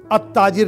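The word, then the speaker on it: التاجر: जालिका ताजिरो, अलिफ और लाम दोनों साइलेंट हो गया, अत्ताजिर लिखा था यानी अल ताजिरो लिखा गया है लेकिन हम उसको पढ़ रहे हैं अत्ताजिरो, तो ते के साथ जब लाम आए अलिफ लाम तो लाम साइलेंट हो जाता है।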